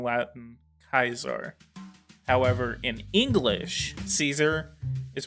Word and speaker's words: Caesar: you would say kaiser kaisar kaiser kaisar is very close to original latin that pronunciation is preserved